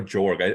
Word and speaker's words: Jorg: know by the way is it York or jorg I don't know I like I always pronounce it in my head it was the